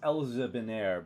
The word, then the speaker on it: Elzebiner: Elzevir. Elzevir? Elzebiner. It's No. pronounced Elzebiner, but I cannot, for the life of me, say it like that.